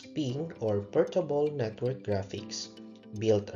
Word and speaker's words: PNG: example of picture is PNG or pronounced as ping or portable Network Graphics